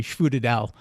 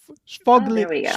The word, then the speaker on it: sfogliatella: was when we called that little scallop-shaped pastry schfoodedel. They thought that was hilarious. But so what is the proper way to say it? The flagliatelle. I'm trying to think. Sfogliatella.